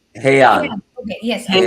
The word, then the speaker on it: Heian: Is that how it's The pronounced? Heian, Heian.